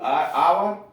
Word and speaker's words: hour: ऑनर, HONOUR, ऑनर, H silent है, सम्मान, HOUR, आवर, घंटा, यह साइलेंट है।